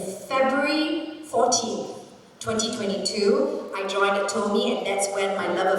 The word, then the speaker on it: Atome: 14 2022 I joined at Tomi and that's where my love affair really started and told me stands for available to me that's how you can remember how to how to pronounce Atomic data so what